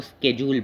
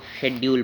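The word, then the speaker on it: schedule: जैसे उसको थोड़ा प्रोनाउंसिएशन में जैसे अमेरिकन इंग्लिश है उसमें इसको स्केड्यूल बोला जाता है, और जो ब्रिटिश इंग्लिश है उसमें इसको शेड्यूल बोला जाता है।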